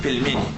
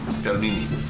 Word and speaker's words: Pelmeni: This dish again, how do you pronounce it? Pelmeni. Pelmeni.